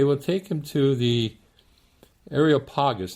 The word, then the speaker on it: Areopagus: to the ariel pagas this is pronounced in different ways and i'll probably pronounce it a number of different ways and mangle it a little bit but basically it's uh the ariopagas or areopagus but two of the more familiar ways that the more common ways that it is pronounced but you understand what